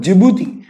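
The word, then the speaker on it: Djibouti: एक देश आता है दोस्तों जिबूती, डी साइलेंट है और बाकी इसको जिबूती कहते हैं।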